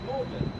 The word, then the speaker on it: Magdalene: That river is known as the Charwell, spelled Cherwell and pronounced Charwell, as the college is spelt Magdalene but pronounced Magdalene.